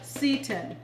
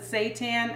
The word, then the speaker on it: seitan: cup now making this it's also called Seaton some people pronounce that seitan I can't do that so the season